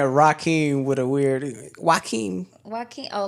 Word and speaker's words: Joaquin: Yeah, Joaquin. I'm like Joe. his name Joaquin. But That's it's how you like, pronounce but it's it?